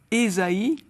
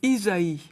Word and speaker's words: Ésaïe: nom du grand prophète Esaïe au lieu de Isaïe on a opté pour la prononciation protestante alors c'est peu de